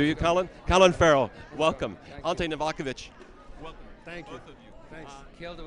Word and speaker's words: Ante Novakovic: a prompter do you Colin Colin Farrell welcome alte novakovich welcome thank you thank you with the pronunciation there man you killed it well you